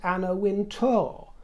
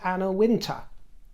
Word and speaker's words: Anna Wintour: If you knew anything about the fashion world, you'd know that the woman with Megan is Anna Wintor, not Anna Winter. It's to t o r. So you pronounced her name incorrectly because I said Anna Winter.